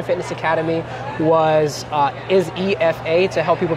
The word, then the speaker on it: Ifa: Academy was uh is EFA to help people pronounce it because the I is like an e so that's why I